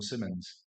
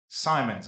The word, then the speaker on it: Simons: Is it Simons or Simmons? Simons, I was saying it right.